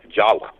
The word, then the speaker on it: Java: By the way, the name in Dravida is actually pronounced Jawa, even though it's spelled Java.